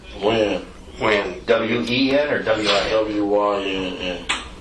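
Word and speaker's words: Wynn: Or Wen? Win.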